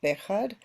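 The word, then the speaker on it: Béjar: a town in Spain called bead b e j a r the accent on the E I've been there many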